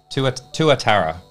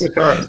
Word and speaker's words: tuatara: Steve helped me out with the pronunciation before. Tuatara. Thanks. Tuatara.